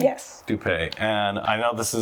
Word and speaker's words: Doupe: Doupe.